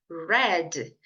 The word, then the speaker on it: read: muito importante tá bom Então é só você lembrar da cor vermelho vermelho não é red red então leu o passado